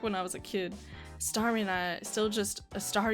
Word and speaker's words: Starmie: I was a kid, Starmie and I still just star you. I never pronounced its name right. I always end up saying, saw you.